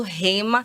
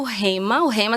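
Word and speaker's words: Rhema: E olha só, para você que não conhece o Rema se escreve R-H-E-M-A, certo? Tem um H aí.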